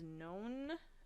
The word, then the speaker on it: non-: is "oct-," 9 is "non-" (rhymes with bone), and 10 is "dec-"(like decade).